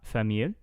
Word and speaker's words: famille: C'est-à-dire avec ma famille. Famille. It's like it rhymes with fille.